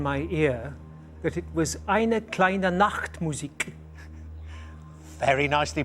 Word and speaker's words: eine kleine Nachtmusik: K9 is telling me in my ear that it was eine kleine Nachtmusik. Very nicely pronounced as well. Absolutely correct. Yes, eine kleine Nachtmusik.